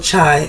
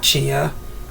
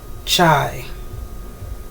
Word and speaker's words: chai: Not chia. Chai. Am I saying it right? Chia or chai? It's chai.